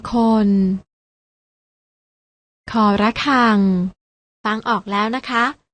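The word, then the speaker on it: ฆ ระฆัง: ค คน และ ตัว ที่ 3 อ่าน ว่า ค ระฆัง น้อง ๆ อ่าน ออก เสียง ตาม นะ คะ ค ควาย ค คน ค ระฆัง ฟัง ออก แล้ว นะ คะ ว่า ออก เสียง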